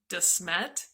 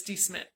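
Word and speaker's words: De Smet: We had to have the locals tell us how to pronounce it because I call it DeSmet, but it's DeSmet.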